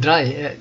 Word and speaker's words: drei: I don't have like the most German accent here, so maybe my accent is not like purely German, but that's how you pronounce it. You pronounce Zwei and Drei.